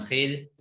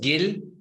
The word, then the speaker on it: Gil: Exactamente, en realidad es Gil, pero obviamente en alemán se lo escribe así, aquí lo pronunciamos Gil, entonces.